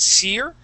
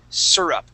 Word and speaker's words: syrup: the word syrup okay there's two ways to pronounce this you can pronounce that seir okay like a syrup all right um but you can also say syrup both ways are just fine okay you'll hear it